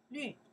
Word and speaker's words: 绿: 绿, yes.